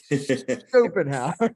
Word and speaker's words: Schopenhauer: Most people don't know about, and I can't even pronounce his last name. I'm afraid to say it. Arthur Schopenhauer.